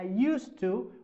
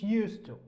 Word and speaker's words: used to: Okay, so in these expressions we don't pronounce the D or D sound like this one.